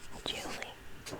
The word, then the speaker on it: July: July used to rhyme with truly. So it was like Julie, maybe.